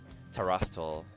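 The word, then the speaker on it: Terastal: Ra Terastol. I'll just call it Mickey. Yo, I like that. Emphasis on the Ra. Terra. Terastol. Did I say that right? Terastol.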